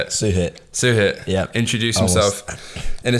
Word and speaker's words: Suhit: Suhit.